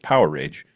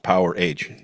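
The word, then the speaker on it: Powerage: album uh from 1978 power rage and just in case you don't know it's pronounced power age album features the arrival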